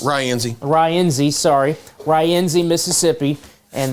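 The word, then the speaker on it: Rienzi: and Biggersville most likely probably close to that Renzy area. I guess that's how it's pronounced. Ryenzy.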